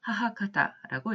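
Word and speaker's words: 母方: 아까 아버지 쪽의 혈통은 치치카타라고 했습니다만 어머니 쪽의 혈통을 일컬을 때는 일반적으로 하하카타라고 읽었습니다.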